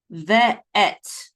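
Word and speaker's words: וְאֵת: And then this is a vav with a shavas, this is ve, and then an aleph with a tzere, and the tav together say et, ve et, okay? Tzere says that syllable says and the sound of this is mercha, right? So this says ve et, okay?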